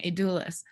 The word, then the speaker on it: Adulis: I always say it wrong, Adulis.